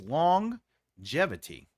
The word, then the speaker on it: longevity: How about what is it, what is the word where Oh, longevity has one G, but you say G twice. It's longevity.